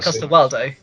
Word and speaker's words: Coster-Waldau: I think I'm Nikolai pronouncing. Coster-Waldau.